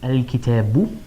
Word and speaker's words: الكتابُ: I would add a dhamma there, so I would pronounce it al-kitabu.